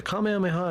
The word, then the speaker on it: Kamehameha: The Kamehameha is five syllables.